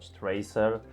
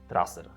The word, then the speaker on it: Traser: In Poland and Switzerland, people usually just say /ˈtrasɛr/. But those who have spent time in the US or come from other countries may pronounce this name differently like /ˈtreɪsɜr/. There are several variations out there, but we recommend the simplest, and safest pronunciation which is /trasɛr/. So, saying /trasɛr/ is correct.